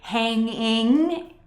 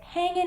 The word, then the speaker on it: hanging: Now, when Americans say this phrase, we tend to leave off the final G in the ing sound in hanging in there. So we don't say hanging in there. We say hanging in there.